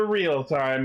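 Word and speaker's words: REAL×TIME: about time for the real-time movie. The 01 movie. Real X time movie. Yeah. Well, you don't pronounce the X, it's like Hunter x Hunter.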